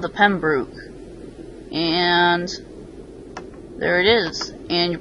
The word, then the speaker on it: Pembroke: cloth belt and the boat is called the Pembroke and there it is you're probably thinking oh didn't I just see Pembroke why did you say Pembroke well the guy who made it says that's how he pronounces it so I'm just pronouncing it with